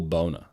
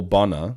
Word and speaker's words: Bonner: teacher and uh and Neville Bonner as two ends most words with two ends uh pronounced in the similar fashion uh I think like uh not enough spanner right uh one n turns it changes the the pronunciation anyway she kept calling